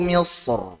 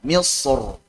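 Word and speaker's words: مصر: Wa qala dakhulu Misr. Tebalkan ra-nya. Misr. Yang tipis.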